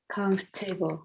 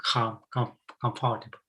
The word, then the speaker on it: comfortable: Now, this word here, Comfortable. Comfortable. yeah, so Comfort. some people will say comfortable. Usually we get rid of the O. We don't pronounce the O.